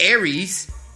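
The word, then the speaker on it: ERYS: We got Jaden Smith with Aries, which is spelled E-R-Y-S.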